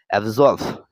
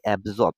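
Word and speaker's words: absorb: উচ্চারণ করি সেটা হলো অ্যাবসর্ভ এবজর্ভ উচ্চারণ হবে কি অ্যাবসর্ব কিন্তু এভাবে আমরা মনে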